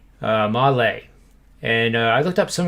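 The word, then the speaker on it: Mahle: go-to reference now so this guy's name is uh tyler male and it's actually lay malay and i looked up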